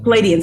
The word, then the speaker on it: Pleiadians: Pleiadians.